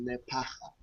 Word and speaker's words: Lephaka: That's the name, and my surname is Lephaka.